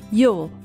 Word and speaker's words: you'll: A contração do you com will se pronuncia you-ul. You'll. Você tem um ul bem discreto no final.